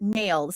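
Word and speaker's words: NAILD: it is that he he says he pronounces it nails so it's n-a-i-l-d.4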